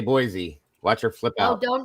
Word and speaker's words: Boise: Say Boise. Watch her flip out. Oh, don't. That is not a Z. There is no Z in the word boyisey.